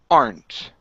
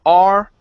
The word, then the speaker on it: aren't: we have the word aren't now um some people pronounce this aren okay I was taught that that that's incorrect uh so we don't pronounce the E right here in the middle uh the root word